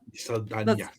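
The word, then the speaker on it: Saldaña: Well, how do you say her name? Danya. Saldana. Saldana. Yeah, that's how you're supposed to say it.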